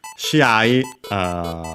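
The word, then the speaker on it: 試合: Shiai, unaccented. That's weird.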